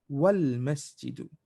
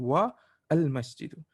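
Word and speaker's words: والمسجد: You can stop, but for the wow, usually it's much better to pronounce together. Wal masjidu instead of saying wa al masjidu.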